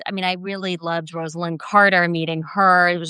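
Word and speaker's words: Rosalynn: mean I really loved Rosalyn Carter meeting her. It was just a fascinating experience because people still mispronounced her name long after she had left the White House and said Roslin and it really got to her.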